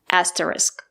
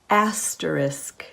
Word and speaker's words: asterisk: end of the word the two letters S and K make the sound SK not the word is pronounced asterisk not asteris let's listen to some examples asterisk asterisk this is called